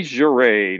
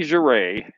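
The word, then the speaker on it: Jere: How do I spell that? It's J-E-R-E, and I can actually show you the signature here. C. Juray, 1975.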